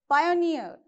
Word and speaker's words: pioneer: So since it is saying last syllable, you have to keep the stress mark on the last syllable. Engineer. Okay. Profiteer. Pioneer.